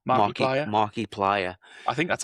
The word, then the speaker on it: Markiplier: The video game was picked up by someone, I forget his name, who Markiplier. Mark Player. How would you pronounce that? Like Marky Mark. Oh yeah, Plier, as in the pliers. Markiplier.